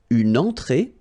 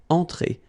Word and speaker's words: entrée: Un apéritif, then une entrée, okay, remember, well, technically this final here is not pronounced, so phonetically it doesn't exist, so it's et, okay, entrée, remember, nasal here, entrée, une entrée, then un